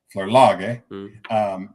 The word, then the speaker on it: Flerlage: We pronounce it Flerlage, but it's a German name, and it was originally pronounced Flerlage.